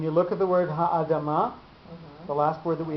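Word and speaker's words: הָאֲדָמָה: So you can't say hadama. You can't say it. You just lose part of the word. So the accent is shared between the two syllables. So it'd be Ha'adama. Okay.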